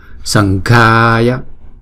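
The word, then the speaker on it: Saṅghāya: Namas sankhaya, sang sần chứ không phải là sầm ha. Sần ga ga, chữ g hờ đọc là g g. Sần ga ya nama, sần ga ya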